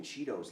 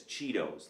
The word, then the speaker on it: Cheetos: craving some Cheetos no why are you saying Cheetos like that what with a heart T you're saying Cheetos yeah because that's how you're supposed to say no you say it like this Cheetos like with a D sound who